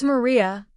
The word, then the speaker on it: María: It's Maria with the accent.